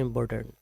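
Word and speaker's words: important: Check कर सकते हैं इम्पोर्टेंट। तो इसका राइट प्रोनाउंसिएशन है इम्पोर्टेंट। इम्पोर्टेंट मतलब जल्दी से अगर हम इसको बोलेंगे तो बोलेंगे इम्पोर्टेंट, नॉट टेंट।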